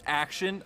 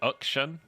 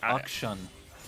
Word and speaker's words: Akshan: If his name is pronounced Action, I was going to say I'm actually really, really depressed by that. I think it's like Akshan, I believe, which Akshan. Like it's almost like a U sound.